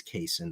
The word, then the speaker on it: Cason: I don't know if I think it's casein that's how you pronounce it Cason Wallace said Kentucky uh